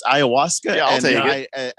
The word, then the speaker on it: ayahuasca: Well, if I'd known that was weight loss, I'd be on the Awashkushka. How do you say that? It's ayahuasca.